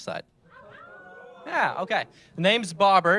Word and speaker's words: Babar: The name's Bobber. It's pronounced like a fish and bobber, like B-O-B-B-E-R, but it's spelled like the elephant, if any of you are aware of the elephant.